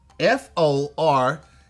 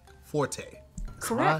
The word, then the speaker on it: forte: this thing started um we're round one pronounce this word f-o-r-t-e forte forte that is correct that is correct uh